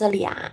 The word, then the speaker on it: 俩: So it's pronounced 俩, and you see the right part is the same with 两, and you add the person radical next to 俩.